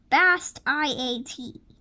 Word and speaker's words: Bastiat: Frederick Bast, I-A-T. Bastian. Frederick Bastiat. My parents named me after this man, explained Fred.